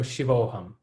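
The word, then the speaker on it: Shivo'ham: like shivoham right no it's not any longer so you just pronounce it short so shivoham but i think because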